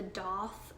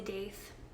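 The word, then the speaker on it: daith: have this which is pronounced the doth um some people say dath the piercer told me it was doth i don't know but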